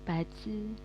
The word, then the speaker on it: bazi: Nulisnya bazi sih. Tapi bacanya pace.